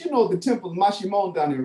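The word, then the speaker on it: Maximón: It has the sh, like the S-H. So it's M-A-X-I-M-O-N, but the O has the what you call the accent over, so that you can get the stress on that syllable, Mashimon.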